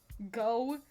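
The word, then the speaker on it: Gogh: It's called Go G O G H spelled like Van Go.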